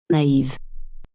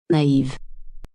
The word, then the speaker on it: naïve: They are used to give the vowel a separate pronunciation from the preceding vowel. Let's look at 2 examples. Repeat after Julie. Noël. Noël. Naïve. Naïve.